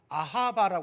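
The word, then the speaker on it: אהבה: 특이해요 히브리어에서 사랑 그러면 다 무슨 뜻이 히브리어로 발음이 어떻게 되냐면 아하바 합니다 아하바 성지술례 갖다 오신 분들은 알겠지만 이스라엘에서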